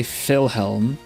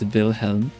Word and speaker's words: Vilhelm: I usually say Fander Boss actually, but I never say Philhelm like you would in Dutch because it's spelled in Swedish. So it's Vilhelm.